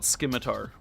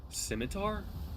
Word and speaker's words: scimitar: Also, why does everyone call it Skimitar? Wait, what? You What about Why does everyone call it a Skimitar? How do you pronounce it? Scimitar.